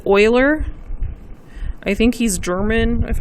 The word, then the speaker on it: Euler: I know it looks like Euler, but it's not. You pronounce it Euler.